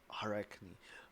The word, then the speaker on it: Arachne: Arachne. Yes, that's a lot better way to pronounce that.